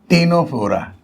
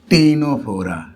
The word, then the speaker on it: Ctenophora: है उसका नाम है टेनो फोरा देखो यहां भी वही सी जो है वह साइलेंट है सी पढ़ा नहीं जाएगा तो क्या पढ़ा जाएगा टेनो फोरा सी साइलेंट है ठीक है टेनो फोरा